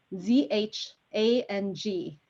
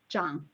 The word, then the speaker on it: Zhang: of lily's last name z-h-a-n-g is zhang okay it's uh cash zhang so seven percent of